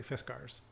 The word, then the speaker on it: Fiskars: I asked them, and they said it's correctly Fiskars.